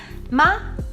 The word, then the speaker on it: 吗: Like all Mandarin particles, these are pronounced in neutral tone, which should be light and quick.